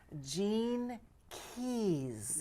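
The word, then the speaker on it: Gene Keys: this and I hope I say it right Jean Keys yes and that's GE NE right yeah is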